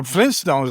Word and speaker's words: Flintstones: Flynn but it's actually flint stones. So it's f l i n t s t o n. You know people forget about that first t the flintstones but it's actually the flint stones.